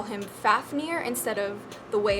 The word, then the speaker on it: Fafnir: hatchling plan for more info next we have Fafnir the elemental dragon guardian of fire and this is spelled FA F and I are but is